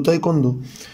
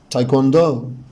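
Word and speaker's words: taekwondo: طبعا رياضة تايكوندو الناس بتنطقها شكل ما بنطقها بالعربي، بيقولوا تايكوندو، لكن طبعا النطق مش كده خالص. طبعا نطق رياضة تايكوندو هو تايكوندو تايكوندو تايكوندو. اول حاجة لازم الاحظها ان الاي مع الاي ده لونج اي، يعني بنطقها لونج اي، فبقول تاي تاي تاي. تاني حاجة لازم اعرفها ان حرف الدبليو هنا حبايبي منطوق مش سايلنت، فبالتالي هقول تايكوا تايكوا تايكوا.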